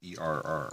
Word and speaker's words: err: it's it's not Sanskrit it's err like to ER is human or as some insist to air is human but my grandmother told me the correct pronunciation and I'm sticking with